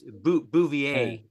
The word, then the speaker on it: Bouvier: No R R silent. I mean there is an R there but in French it's B.